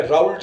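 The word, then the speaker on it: Raoult: तो इनको समझाने के लिए फ्रांसीसी वैज्ञानिक राउल ने, इसको बहुत सी बुक्स में राउल्ट लिखा हुआ है, इंग्लिश में स्पेलिंग राउल्ट है, प्रोनाउंस राउल करते हैं, राउल के नियम से समझाया गया है।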